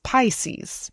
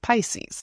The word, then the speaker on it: Pisces: Okay, we're going to go to Pisces, Capricorn, and then Aquarius. Okay. So, Pisces. Pisces, we call it Pisces in English. Pisces. I know that in Spanish it's like Piscis, but in English it's Pisces. Pisces.